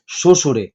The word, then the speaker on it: শ্বশুর: ঠিক আছে, তো বফলার উচ্চারণটা নেই, উত্তরটা হবে শ্বশুরে। শ্বশুর, শ্বশুরের মধ্যে কিন্তু বফলার উচ্চারণ নেই।